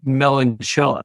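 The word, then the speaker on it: meloncela: it sold it the it's just called melan shell it's m e l o n c e l a so they they pronounce that CH Mel but yeah that's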